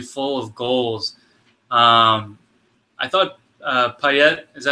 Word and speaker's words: Payet: I thought Payet, is that how you say it?